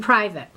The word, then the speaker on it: private: Which syllable in these words has the stress? Human. Private. Where am I stressing? Like the IVA in private. Well, it's actually the first syllable, so you'd be going human and private.